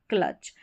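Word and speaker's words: clutch: तो इस तरीके से सी एल को तो पढ़ा क्ल और टी सी एच को च क्ल और बीच में इस तरीके से कंसोनेंट्स के बीच में यू आता है तो उसको अ पढ़ते हैं। ये हमने रूल्स में रूल्स में सीखा नियम में सीखा। ये हो गया क्लच।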